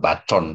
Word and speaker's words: Bacon: paradigma ilmiah atas usaha Francis apa Beckon juga ya ee Bacon bacanya itu kalau itu biasanya ya.